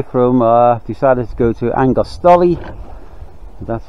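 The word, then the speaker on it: Argostoli: We're about 82 miles away from, decided to go to Angostoli, that's how you pronounce it, in Kephalonia.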